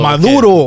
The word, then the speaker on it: Maduro: Maduro. How do you say his name? Like the Valley boy. Tell me what your name. Maduro. Put a oomph in it. Maduro. Okay. Maduro.